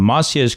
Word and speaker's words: Maciej: This is part of a larger podcast series, but right now I am absolutely delighted to welcome Maciej Klenkiewicz to the studio.